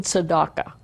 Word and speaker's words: tzedakah: We say, I'm giving tzedakah. Tzedakah, Hebrew pronunciation, otherwise I think it's Yiddish, tzedakah.